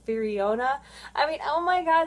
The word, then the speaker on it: Firiona: the artwork uh i used to call her firona vi but actually it's firiona i mean oh my god there's just so